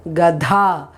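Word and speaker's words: गधा: See how I'm pronouncing? Gadha. Dha I'm giving.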